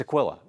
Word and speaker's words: Aquila: It's Aquila. That, that's how the man pronounces his last name, Archbishop Aquila.